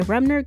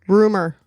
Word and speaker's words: Rumer: first published in 1958 did I say it wrong rumor what did I call her rner it's rumor r u m e r i can see the M but you also added an N you know it's the